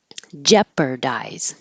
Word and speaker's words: jeopardize: And jeopardize. It looks weird. GEO looks like geo, but it's not. It's jeopardize. Jeopardize.